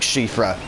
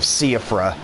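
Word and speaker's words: Siofra: knows it's just like shifra it's pronounced chief rap because it's like irish or welsh or something instead of seaafra or sofa english is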